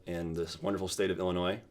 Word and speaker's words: Illinois: this wonderful state of Illinois Illinois there's an S at the end but you don't say it you don't pronounce it uh the town I'm